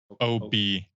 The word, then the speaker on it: OBD: ODB2 port? OBD. OBD. Yeah, OBD. I said it wrong the first couple times, Does and it now it's mean gonna something? stick. Is it short for something? OBD? Yeah, it's onboard diagnostics.